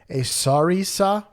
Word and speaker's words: sarissa: A sarissa, a sarissa. Spelled like Marissa with an S at the beginning.